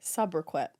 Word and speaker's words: sobriquet: Sobriquet.